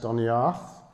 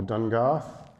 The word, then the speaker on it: Doniert: Doniert, pronounced Doniarth or Dungarth, is believed to be the last Cornish king.